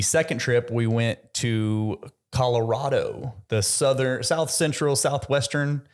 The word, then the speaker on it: Colorado: Telluride that area or as locals will say Colorado Colorado they say it wrong okay Colorado in their own home they say it wrong yeah they say Colorado wow that's dumb that is dumb yeah I know it's an A but it's probably Colorado it's